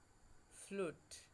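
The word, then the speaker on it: flute: বিশিষ্ট আমরা ধরো এফ এল ইউ টি ই ফ্লুট ফ্লুট মানে বাঁশি দেখো ইউ তার আগে কনসোন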